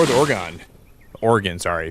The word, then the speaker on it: Oregon: People say Oregon. I say Oregon. It's not correct. Even though it's spelled like Polygon, I swear to God, it should be. That's how you should pronounce it, but it's not correct.